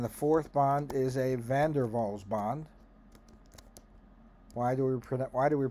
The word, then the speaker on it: van der Waals: And the fourth bond is a van der Waals bond. Why do we pronounce that van der Waals? Because it's in Dutch and the W is pronounced V.